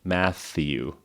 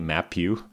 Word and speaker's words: Matthew: So, Matthew with the TH, the tongue comes out in between the teeth. So Matthew. If the tongue doesn't come out, then I can't pronounce it. Matthew. Then it's wrong.